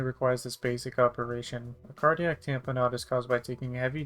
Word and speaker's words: cardiac tamponade: First thing we'll cover today is a cardiac tamponade, yes that's how you pronounce this.